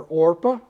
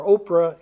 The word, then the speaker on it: Orpah: consult a bible or they weren't sure how to spell or pronounce it so they started calling her oprah instead so it's it's now oprah but she her intended name was orpah after orpah in the